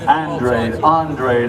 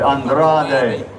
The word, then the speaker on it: Andrade: Next onto the scales, his last name is pronounced many different ways. Andrade, Andrade.